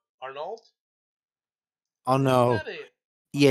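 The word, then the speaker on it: Arnault: after the chief Bernard Arnold Arnold oh no yeah you don't pronounce the T don't stop them I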